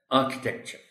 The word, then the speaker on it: architecture: is foreign points foreign architecture is stress is on a so we will be pronouncing it correctly as architecture architecture historical historic historically act